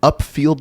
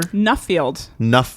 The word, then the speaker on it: Nuffield: What is an upfield scholar? Nuffield. Upfield. That's okay. Good. It means I need to improve my pronunciation.